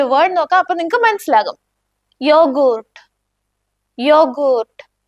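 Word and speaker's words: Joghurt: യോഗൂർട്ട്. യോഗൂർട്ട്. ഇവിടെ ശ്രദ്ധിച്ചോ, യാ സൗണ്ട് അല്ലേ വരുന്നത്? അതേപോലെയാണ് നിങ്ങൾ യോട്ട് വരുന്ന വാക്കുകളുടെ ഉച്ചാരണം യൂസ് ചെയ്യേണ്ടത്.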